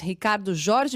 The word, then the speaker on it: Ricardo Jorge: E você pronunciou de maneira correta. O nome é Ufa, complicado, mas você pronunciou da maneira correta, sim.